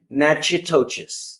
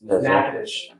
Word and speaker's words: Natchitoches: I butchered the pronunciation, but Natchitoches. Natchitoches. What is it? Natchitoches.